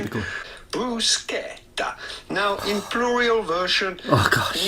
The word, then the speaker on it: bruschetta: in Italian with the typical Italian pronunciation. Typical. Bruschetta.